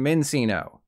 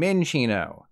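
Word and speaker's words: Minccino: they're sinchino stencino and mencino okay maybe it's not that many incorrect pronunciations but since these are based on Chinchillas you want to call them chinchino and minchino there is no sinning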